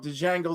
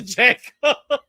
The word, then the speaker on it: Django: YOU SAID TO JGO AND then you corrected yourself and you still said to Django. The D is silent.